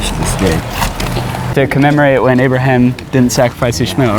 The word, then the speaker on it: Ibrahim: Anyway, they all contain the classic story of Abraham, pronounced in Arabic Ibrahim, who at 86 years